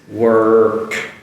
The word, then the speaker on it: work: So I'll do it slowly if you can see this. Work, work, work. And of course I don't say it so slowly like that, but I say it quickly, but I still make that R.